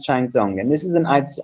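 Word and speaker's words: Kengtung: that it's got two different spellings but it's pronounced chime dong and this is a nice isolate town in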